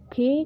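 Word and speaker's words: خ: Next word है हमारा खे। हम इसे कुछ इस तरह लिखेंगे, ये हो गया खे। खे को हिंदी में खा कहेंगे और इंग्लिश में के और एच, वही खा, इसका प्रोनाउंसिएशन निकलेगा खा।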